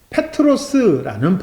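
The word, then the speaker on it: Πέτρος: 원래 발음은 페트로스라는 발음이에요.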